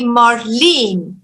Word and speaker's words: Marlyn: Camden New Jersey marlin so my pronunciation should be Marlene yes it's okay everybody